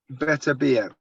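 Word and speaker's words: Beterbiev: How do you pronounce it? Beverton. Yeah, Better Biev.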